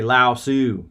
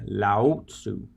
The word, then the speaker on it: Lao Tzu: or a sociology teacher he used to correct my pronunciation of Lao Tzu I'd say Lao su when he say Lao Tzu and that was at st.